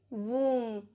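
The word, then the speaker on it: womb: B silent रहता है after M, before T. For example, lamb, डम, थम, प्लमर, टूम्ब, वूम।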